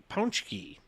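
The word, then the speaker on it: pączki: Tuesday each year and to clear up any confusion on how to pronounce Pooja you should be saying punch key according to the DNA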